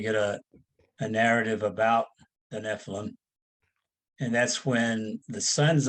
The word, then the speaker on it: Nephilim: So first, Mark, what were the am I pronouncing the Nephilim right? Is it Nephilim? Yeah, Nephilim.